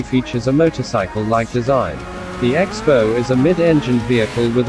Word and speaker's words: X-BOW: Its name is pronounced Crossbow, inspired by the weapon of the same name.